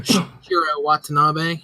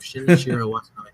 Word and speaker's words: Shinichiro Watanabe: say his name wrong, Shinichiro Watanabe. I think that's it. It's got that extra I in it, and I always screw it up. Shinichiro Watanabe, the guy who did